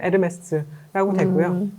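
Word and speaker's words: Hermès: 근데 그 에르메스를 우리가 에르메스라고 하는 것은 불어로는 네. H가 묵음이니까 에르메스라고 되고요.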